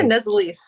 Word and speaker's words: Nuzzolese: Did I spell it say it right? Yeah, Nazalies.